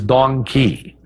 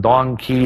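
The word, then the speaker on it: dong quai: I can't forget its female counterpart which is Don key that's spelled D o n qu Ai and Dong key is a great herb for any female of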